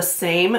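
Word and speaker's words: Saem: And this is from a company called The Same, but Same is spelled S-A-E-M.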